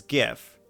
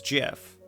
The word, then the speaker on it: GIF: naturally pronounce it as gif but the official original pronunciation was jiff so i i guess